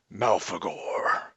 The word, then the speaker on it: Malfegor: vampire wizard correctly there it's pronounced mouth ago wow that's a I